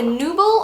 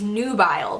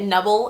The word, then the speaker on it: Nubile: And it's the Nubble, or no, it's Nubble actually. Funny story, I actually bought this at the MAC counter thinking it was Nubile because it's spelled N-U-B-I-L-E, so I thought it was like nubile, I don't know, like sundial, nubile, I don't know.